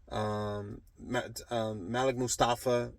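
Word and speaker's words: Malik Mustapha: Malik Mustafa, that's how you say his name.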